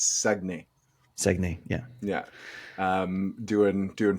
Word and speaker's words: Saguenay: It's not Saguenay, it's Saguenay.